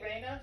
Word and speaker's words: Reina: Am I pronouncing it correctly, Reina? Yes, you are pronouncing it right. It's Reina.